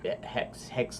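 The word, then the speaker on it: Haxe: a library called Hexaflixel, or Hex, they pronounce it Flixel, which is the Flixel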